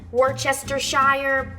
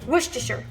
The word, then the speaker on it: Worcestershire: could correctly pronounce it I always said wish to share some people Worchester Shire I don't say it that way Worcestershire so I lied earlier